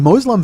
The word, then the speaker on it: Muslim: it is now I know I have one Muslim fan at least one I have several Muslim